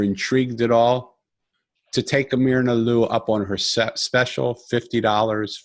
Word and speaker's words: Myrna Lou: So MY looks like my, but think of it as ME, but my name is spelled MYRNALOU.